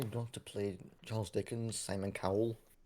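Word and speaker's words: Simon Callow: to play Charles Dickens Simon cowl not not Simon Cowell as in x fact Simon cow pronunciation like he's he was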